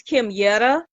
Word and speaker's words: Kimyette: heavily heavily mispronounced so my name is Kim Yetta a lot of people call me everything except Kim yeah okay um I